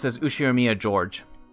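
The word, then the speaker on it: Ushiromiya George: is one of my cousins his name is pronounced says who share Mia Jorge these five years older than me so he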